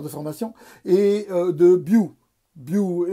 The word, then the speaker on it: Bioul: formation et de bio bio on ne prononce pas le l on dit bien on peut dire buell bon alors ça fait